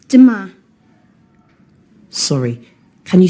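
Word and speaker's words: demain: do you say tomorrow in french um it's dima sorry can you say that again please yes it's duma how do you spell that d e m a i n great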